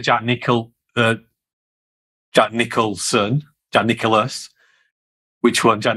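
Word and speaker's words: Nicklaus: nickel jack nicholson john nicholas which one john nicholson said jack nicholas yeah it's jack nicholas i have it wrong i had it wrong jack nick the greatest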